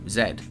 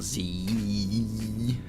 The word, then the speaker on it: Z: were saying three letters to describe one no zed zed that's how you pronounce it not zee i mean you can say about any letter